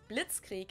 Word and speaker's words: Blitzkrieg: used way before that we pronounce it Blitzkrieg in German and it literally translates to lightning War because Blitz is lightning